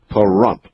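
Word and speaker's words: Pahrump: In Parump, P A H R U M Pump, Nevada.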